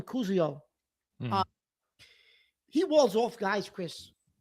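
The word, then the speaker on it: Koziol: The kid, Tanner, I think you pronounce his last name Kuzio.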